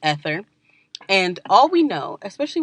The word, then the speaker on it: Aether: We know it's called ether, Aether, just in case I'm saying that wrong. There's a running joke in my family that I just destroy the pronunciation of words. Like, words don't like me, I don't like them, and we fight about it because I say things wrong. Me and the English language have beef, apparently. I don't know. Why are their words built like that? But it's pronounced ether.